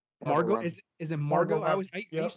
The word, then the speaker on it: Margot: Margot, is it Margot? I used to call her Margaret Robbie, but okay, Margot. I think it's spelled Margaret, but it's pronounced Margot.